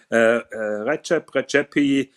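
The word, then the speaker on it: Rexhep Rexhepi: I would go with Recep Recepi. That is the correct pronunciation, as he told me that. Recep Recepi Chronomètre Contemporain number 2, which is slightly above 100,000.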